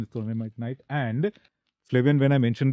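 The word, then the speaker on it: trondhjemite gneiss: It's a very complicated spelling and pronunciation is Trondheimite gneiss.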